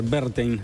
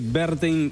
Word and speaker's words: Werthein: así exactamente la manera correcta de pronunciar el apellido del nuevo canciller berin eh Porque la W alemán se pronuncia B corta y la b corta se pronuncia F Así que berin es el nuevo canciller